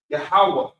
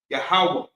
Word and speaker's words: Yahweh: It's really just like a breath at the end of it. Ha. Yahweh. Yahweh. Very subtle, almost like a silent character, silent word, silent letter.